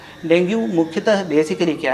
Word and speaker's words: dengue: डेंगू मुख्यतः basically क्या है, जैसे इसका प्रोनाउंसिएशन बेसिकली डेंगी होता है, हम लोग डेंगू बोलते हैं इसको।